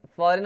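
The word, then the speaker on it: foreign: यहाँ पे ना जी साइलेंट है, फॉरेन, फॉरेन हो जाएगा ये, फॉरेन, फॉरेन में जी क्या है, साइलेंट है।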